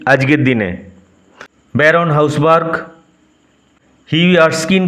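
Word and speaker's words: Erskine: এভয়েডিং present two হি আরস্কিন sorry উচ্চারণ হবে আর স্কিন আগের উচ্চারণটা ভুল করে এর স্কিন বলে ফেলেছিলাম এডিং প্রেজেন্ট টু হিউই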